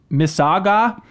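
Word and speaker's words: Mississauga: hey I'm writing in for Toronto also it's pronounced miss saga all right I got thank you I used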